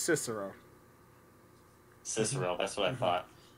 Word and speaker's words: Cicero: B is actually pronounced Cicero.